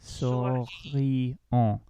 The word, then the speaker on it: souriant: That I says E, and you have to pronounce all your vowels in French. Souriant.